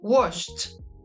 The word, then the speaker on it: washed: When the pronunciation of the last sound of the regular verbs in present is unvoiced, there is no vibration in our vocal cords, the past tense is pronounced t, t.